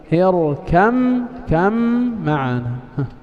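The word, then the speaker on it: اركب معنا: إذا لا ننطق الباء. اركم كم معنا.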